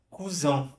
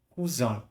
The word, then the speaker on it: cousin: Mesmo a pronúncia francesa, mas aqui cousin vai mudar, né? A pronúncia já muda. Mas em francês eu vou pronunciar cousin, cousin.